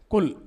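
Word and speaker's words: כל: அனைத்து தினங்கள், அனைத்து வருடங்கள், எல்லாத்துக்குமே அந்த அனைத்து அப்படின்னு வரும்போது கொல் அப்படிங்கக்கூடிய ஒரு உச்சரிப்போடு வரும். கொல்.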